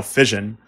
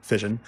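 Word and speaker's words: Physion: them and which is still they're promoting now fission spelled PHY sio n but not pronounced spigen fission and it really is this incredible plugin and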